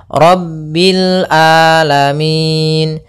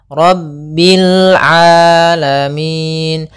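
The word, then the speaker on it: العالمين: di sini huruf Ain hati-hati jangan sampai merubah huruf ainnya menjadi Hamzah banyak yang terjadi kesalahan dalam pelafalannyaitu dengan Alif atau Hamzah maka dibaca rabbil alamin harusnya rabbil rabbil alamin alamin ya rabbil alamin Kemudian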